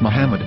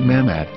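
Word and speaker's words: מחמד: after the H according to Ben yehuda's Hebrew English dictionary it is correctly pronounced as Muhammad not mammad so how we're going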